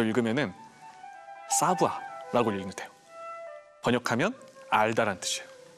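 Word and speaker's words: savoir: 저 읽으면은 사부아라고 읽으면 돼요.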